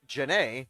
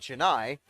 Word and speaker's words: Janae: Coach said a fun way that he remembers that the Janae spelling is pronounced Janae and not Janai is to think of the old Forrest Gump movie. Well, the old Tom Hanks movie, Forrest Gump. And think about the way he says Janae.